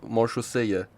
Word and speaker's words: Maréchaussée: بچه این تلفظ این کلمه مارشوسه‌یه. اسم آرتیفکت هم اگه اشتباه نکنم همین بود. تلفظش میشه مارشوسه.